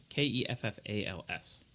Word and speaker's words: Keffals: Keffals.